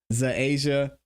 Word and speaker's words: Zaasia: She said my name is pronounced like Asia.